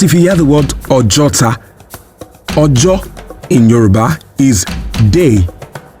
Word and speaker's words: Ojota: So in Yoruba language, there is a formula where two vowels sit side by side in one word, only one is pronounced, while the other serves as an invincible stress or an emphasis in the word. So Ojuota gradually became Ojota, Ojota, Ojota, Ojota, Ojota, a